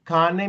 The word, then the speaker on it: cane: Cane means a dog. So, we say ca a n a we pronounce everything.